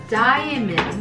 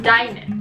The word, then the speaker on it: diamond: Endless Endless、Endless D は発音しなくていいんだ。うん、しなくていい。 Endless Endless Endless Endless Endless。ここダイヤモンドがダイメン。ダイメン。ダイメン。